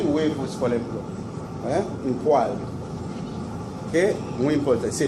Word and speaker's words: poêle: Et les ustensiles, par exemple, très important, une poêle, et ceci ne se prononce pas poêle, ça se prononce poêle.